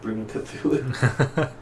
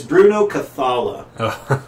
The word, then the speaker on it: Bruno Cathala: it's uh it's by uh Bruno uh not Bruno cthulu how do you pronounce his name it's almost Bruno cthulu it's Bruno cathala okay and I love this guy he did